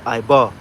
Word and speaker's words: Eber: Okay, Eber, which is where you get the Hebrew word. The correct way to say that in Lashon Kodash would be Ibar.